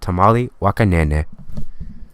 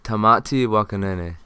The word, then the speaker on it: Tamati Waka Nene: And we are currently looking at Tamati, Waka, Nene. Thank you, Barry. And it's actually pronounced Tamati, Waka, Nene.